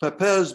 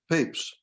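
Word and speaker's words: Papez: first described by papes it looks like it would be pronounced pepez but it's pronounced papes it's a group of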